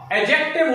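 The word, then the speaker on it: adjective: number three एक्जेक्टिव अजेक्टिव इसको बहुत सारे बच्चे मिस प्रोनाउंस करते हैं एडजेक्टिव कहते हैं एडजेक्टिव नहीं होता एडजेक्टिव होता है साइलेंट रखना है यहां पे ऐसे एक्टिव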